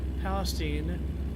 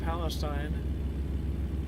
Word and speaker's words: Palestine: They say Palestine, not Palestine.